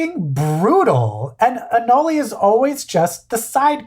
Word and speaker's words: anole: fancier otherwise when you say anoli it sounds like garlic anoli I always I always just called him a hole a hole anal anal what is how do you do how how do you pronounce lizard anoli I actually went to like a lizard YouTube channel and they were like here is the green anoli and I'm like okay